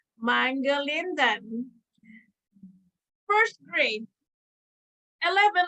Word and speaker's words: Mangalindan: and most people introducing me struggle to say Mangalindan. First grade, 11 letters, 4 syllables, too much stress.